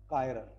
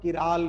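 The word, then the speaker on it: chiral: Carbon which is bonded to 4 different atom or group is called कायरल। बहुत सारे लोग किराल भी बोलते हैं इसको। किराल और कायरल एक ही चीज, अलग अलग लोगों का अलग अलग प्रोनाउंसिएशन।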